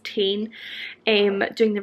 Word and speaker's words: TIJN: chain eyewear or tijn i'm pretty sure it's pronounced 10 um doing the rhymes